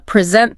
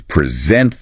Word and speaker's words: present: Like, uh, present the noun, a gift, versus present the verb to give something. Exactly. Same letters, totally different words signaled just by that stress shift or record versus record.